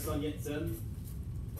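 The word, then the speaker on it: Sun Yat-sen: um also known as sun yetzen uh i guess that is is his um cantonese pronunciation of his name or sunnis in chinese in the chinese um scholars known him as sanjongshan uh the first modern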